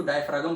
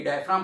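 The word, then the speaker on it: diaphragm: कई लोग उसको डायफ्रागम पढ़ते हैं। कई डायफ्राम पढ़ते हैं। अलग-अलग स्पेलिंग्स है। लेकिन मतलब [गला साफ़ करने की आवाज़] स्पेलिंग एक ही है। प्रोनंसिएशन अलग-अलग है।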